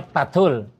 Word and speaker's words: Fathul: Namanya Fathul. Fathul. Nah itu asli Bandung. Fathul. Karena kalau ditulis pasti F tulisnya, cuman bacanya selalu P.